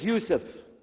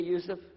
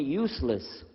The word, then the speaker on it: Yousef: work on it inallah my name is Yousef can you say Yousef said Yousef you're very good I wish you teach my wife she keeps mispronouncing it she calls me useless alhamdulillah now how